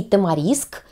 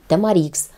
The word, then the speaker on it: тамарикс: такое праздничное розовое настроение и так правильно и тамариск и тамарикс ударение на последнюю И следующий цветок остеосперум